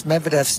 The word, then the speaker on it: Medvedev: been doing his best to pronounce medvedev's name in the russian way which is medvedev i hope that's as